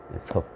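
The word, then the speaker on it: 葉: 섭이라는 곳, 섭. 엽이라고 읽지 않고 바로 지명이나 섬일 때는 섭이라고 읽죠.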